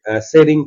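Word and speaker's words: Tshering: आउ ताकर ना होचे शेरिंग टोपगे, शेरिंग टोपगे, टी शेरिंग है बट टी सीरीज ने सेटा शेरिंग टोपगे बोली करी हमें प्रोनाउंस करमा काहे जे टी तो उई हो हे करी रहि जाय।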